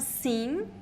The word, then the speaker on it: sim: Careful, it's not the same pronunciation of sim. So if you want to say yes, the pronunciation is sim. Sim. It is in. It is the nasal e.